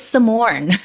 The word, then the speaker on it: Samorn: where people would say, "Your name's too hard to pronounce. It's Simone. It's not that difficult, right? If you could pronounce Arnold Schwarzenegger, you just pronounce Simone."